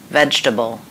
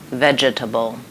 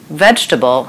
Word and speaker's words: vegetable: Say this, vegetable, not that, vegetable. Here's why. Vegetable has 3 syllables, not 4. We don't say the second E. Say vegetable, not vegetable.